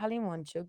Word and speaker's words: Halimonchuk: us today Alexander and sorry if I've mispronounced your surname hi I'm C nice to meet you nope I was wondering but you actually did it correct like not everyone even